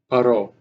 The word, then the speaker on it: Poirot: How do you pronounce that last name? It's like a French. Poirot. Poirot.